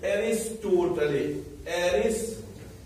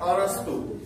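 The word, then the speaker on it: अरस्तू: लिखते तो एरिस्टोटले है, लेकिन प्रोनाउंसिएशन क्या है, अरस्तु। प्रोनाउंसिएशन क्या कहते हैं, अरस्तु कहते हैं।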